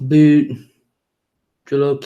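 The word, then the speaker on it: bhut jolokia: no fish yuck it depends on the fish pronounced boot Jolokia is the hottest pepper known Oh my mom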